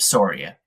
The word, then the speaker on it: Soria: Please welcome Sora. Uh well, uh thank you for having me and thank you for pronouncing my last name correctly.